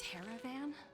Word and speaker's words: Teravan: didn't attend today's meeting a teravan rhymes with Caravan that's right the renowned